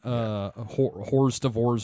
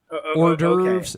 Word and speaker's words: hors d'oeuvres: Okay, so it's kind of like me seeing Horst of Ors or Tupi for the first time. Yeah. Well, wait. Can you pronounce that again?